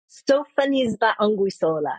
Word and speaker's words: Sophonisba Anguissola: Speaking of friends and speaking of art, I do not know how to pronounce this person's name, so I will let you do it, but it's like Sophonisba. Sophonisba Anguissola.